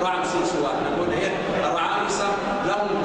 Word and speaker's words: رعمسيس: طبعا نعلم ان هذه الفتره في الأسرة 18 وعصور أطعام السبت، النطق الصحيح طبعا شرمنا طبعا رمسيس لا رعمسيس، وأن نقول إيه الرعامسة لهم دور كبير في التاريخ المصري واستقبال الحضارة المصرية في الداخل ونفوذ مصر الخارج.